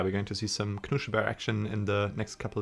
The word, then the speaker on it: Knuschelbär: Actually, one of the good things that we have going for us is that we can pronounce his name right. It's Knuschelbär. Not Knuschelbär or something like that.